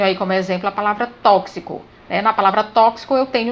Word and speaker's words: tóxico: que e um se na palavra tóxico é gravado com x mas quando eu pronuncia eu falo tóxico então x ele representa